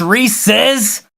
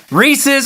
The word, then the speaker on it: Reese's: mine when people mispronounce Reese's Reese's or a candy by a dude named Reese and in case anyone